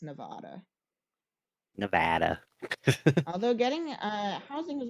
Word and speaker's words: Nevada: I need to be careful to correctly pronounce Nevada every time it comes up. Is it Nevada and not Nevada?